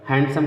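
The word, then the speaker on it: handsome: तो इसमें देखिए यन के पहले क्या डी आ गया तो इसलिए डी साइलेंट रहेगा। हैंडसम कहते हैं, हैंडसम नहीं कहते हैं, हैंडसम, ठीक है।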